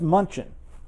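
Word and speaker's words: München: Well, they they spell it m u n c h e n. Yes. That's munchin. Yes. Not Munich. Mhm. Okay.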